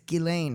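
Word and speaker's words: Ghislaine: yeah i figured that out this week it's gillane maxwell that's how you pronounce it definitely not jizz it's not just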